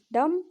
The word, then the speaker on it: dumb: ठीक है, DUMB, डम, इसका सही प्रोनाउंसिएशन डम होगा, क्योंकि एम के बाद बी है तो बी को हम साइलेंट कर देते हैं।